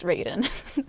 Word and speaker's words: Raiden: And then for Raiden, his name is pronounced Raiden.